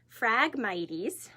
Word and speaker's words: Phragmites: known what it is Phragmites it spelt with a pH so a little confusing instead of an F so Phragmites are these